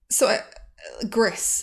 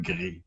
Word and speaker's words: Gris: Then forgive my pretentious pronunciation, but then Gris. Gris. Excuse me. I think that is the correct way to say it is Gris.